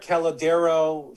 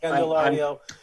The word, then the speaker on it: Candelario: Jamier Calladero for Detroit. I've been pounding. Candelario. I will help you with pronunciation.